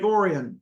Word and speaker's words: Orion: feel like there's probably some like weird Michigan pronunciation it's like no it's Lake orian yeah that I'm going